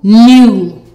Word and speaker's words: gnu: The G is silent. GN equals N. Let's go. N at gnat. N u new.